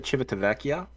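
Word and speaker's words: Civitavecchia: Rome went to Rome from Rome went to chivatavecchia and I can now I can now pronounce uh yeah I can I I can't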